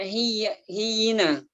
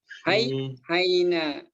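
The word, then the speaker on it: حيّنا: Ini bacanya hayyina atau hiyina? Hayyina. Bacanya hayyina. Hayyina.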